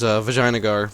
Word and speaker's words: Vijayanagar: of course, as saying the only proper way to say it, of course, which is, Vijayanagar, but, I digress.